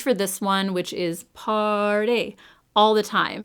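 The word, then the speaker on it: Paaaarty: I reach for this one, which is Party, all the time. And I say it that way because that's actually the way it's spelled, P-A-A-A-A-R-T-Y.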